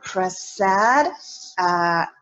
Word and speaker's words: Prasad: we are now recording and I have here press sad right is that how you pronounce it yes good and so thank you